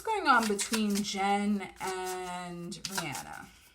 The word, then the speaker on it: Rihanna: on between jen and rihanna you see how i'm saying rihanna and not rihanna because that's how she's that's her heart that's her name is supposed to be um pronounced guys all right what's